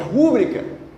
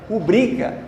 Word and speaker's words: rubrica: Como muita gente acha que é rúbrica, se fosse rúbrica seria uma proparoxítona e seria acentuado. Mas é rubrica, assim como aqui é pudico.